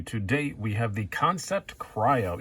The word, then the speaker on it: Kansept: review for you to date we have the concept cryo it's spelled kan SE PT completely understandable if you think it's can suck that's kinda what I thought at first too